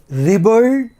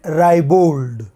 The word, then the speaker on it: ribald: It has two pronunciation, ribald and ribald.